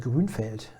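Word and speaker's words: Grünfeld: be pronounced I mean I know that goon felt is right he was Austrian but this is always extremely difficult to all of a sudden in the middle of an on the English sentence go back to yeah a German name that should be pronounced in German way yeah anyway and let's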